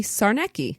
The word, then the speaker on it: Czarnecki: Kaylin wrote in that the way to pronounce her name would be Czarnecki.